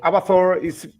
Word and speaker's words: Abathor: Is that how you pronounce it? Yeah, it's Abathor.